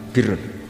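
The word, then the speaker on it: بِرّ: Ya kalau di isim fa'ilnya umumnya guru-guru kita baca barin, tapi untuk masdarnya, untuk kebaikan bacanya apa? Birun. Nanti kamu protes, oh barun itu daratan Gus, kalau birun itu kebaikan.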